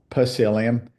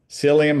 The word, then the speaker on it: psyllium: make from corn hus psyllium it's kind of silly but it's got a PE on the front of it so pelium if you're W to pronounce that P in there but psyllium husk fiber not in